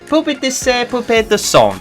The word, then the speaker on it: Poupée de Son: Oh, let me pronounce it a bit better. That was dire of me, I'm so sorry. Poupée de Son.